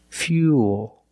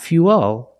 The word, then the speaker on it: fuel: plus the dark L Fuel not few o remember when you link the U plus the dark L the mouth opens a little bit but it's not a real syllable it's like this fuel fuel this is fuel